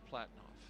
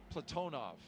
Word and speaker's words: Platonov: Our crew today, commander Zena Cardman, pilot Michael Frink, Jackson astronaut Kimmy Aayoui, and Ross Cosmos cosminaut Alleg Platinoff Platonov. I corrected my pronunciation yesterday and I slipped back into crew walk out has commenced on schedule.